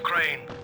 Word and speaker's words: Crane: Crane rhymes with train and brain and train and grain and rain and plane and the other kind of plane and and but can I come in?